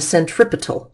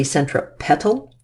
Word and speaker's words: centripetal: force is called the centripetal force once in a while I'll over pronounce it and say centra petal force but the centripetal force